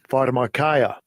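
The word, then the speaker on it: φαρμακεία: Pharmakia. Pharmakia. It's pronounced pharmakia, right?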